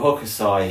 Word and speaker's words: Hokusai: So anyway, and we were talking last night with Emma that Hokusai, how do you pronounce his name? Oh, Hokusai, yeah, the Japanese.